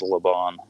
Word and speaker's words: Laban: Some translations will have it as Laban. But if there's no if there's no little dot in the bet, then it's pronounced V instead of B.